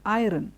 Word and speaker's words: iron: Because we have the R sound there, some of us don't know whether it should be stressed or whether it should be left, whether we need to use that word, whether it needs to be dropped. And so we have many of them saying the word iron because there is an R there. But remember, it is not iron, it is iron, iron.